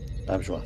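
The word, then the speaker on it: Auberjonois: I always mispronounce it. Renee Auberjois. Auberjois.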